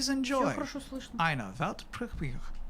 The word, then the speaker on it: Weltpremiere: It's actually Weltpremiere. Pretty similar, Yeah, right? I think I could do that. Yeah, do it. Weltpremiere.